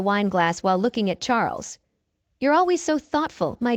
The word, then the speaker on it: Charles: glass while looking at Charles you're always so thoughtful my dear husband she replied Charles pronounced the French way as charl looked like typical Euro